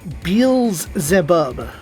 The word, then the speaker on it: Beelzebub: Yeah, it is Beelzebub, according to the documentation, the ancient tome. So, Beelzebub. Yes, but it is spelled wrong.